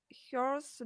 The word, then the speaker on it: hours: How much hours do you train? How many hours? Yeah, Hours. without H, да, то есть мы не произносим х там.